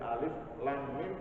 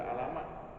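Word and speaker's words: الم: maka ketika ada kejadian alif.lam.mim tidak dibaca alamat bacanya Bapak Alif Lam Mim sekarang Terus nyetok sahabatnya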